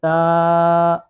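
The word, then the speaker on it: ت: বা তারপরে আছে তা সা এই পরপর তিনটি অক্ষর এক আলিফ পরিমাণ টান দিয়ে পড়তে হবে। বা তা এইভাবে আমরা উচ্চারণ করব।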